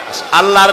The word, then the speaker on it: আল্লাহ: আল্লাহর নাম আল্লাহ, বলেন তো। আল্লাহ নয় কিন্তু, আল্লাহ হচ্ছে অশুদ্ধ, শুদ্ধ হচ্ছে আল্লাহ। বলার সময় মুখটা গোল হয়ে যাবে।